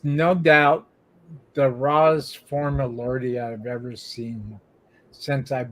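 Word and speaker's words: Lorde: here lordy is l-r-d-i not to be confused with l o r d e which is pronounced Lord and lordy the band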